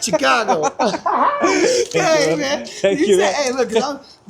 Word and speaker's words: Chicago: And you said it right. It was funny. You said Chicago. That's how they say it up there.